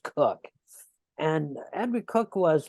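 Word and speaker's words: Coke: with Edward cook at c-o-k-e but it's pronounced cook and Andrew cook was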